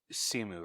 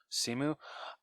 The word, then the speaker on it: Simu: Simu, right? That's how you say his name. Yeah. Simu.